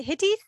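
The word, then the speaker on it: hytta: and hides in the is it hitty is that how you pronounce it yeah h-y-t-t-a yeah yeah and and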